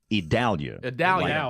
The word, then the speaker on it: Idalia: James Spann tell us the latest owners at Adelia you know we've decided that the pronunciation we believe is correct it's idalia Dallas like Dallas okay a lot of weeping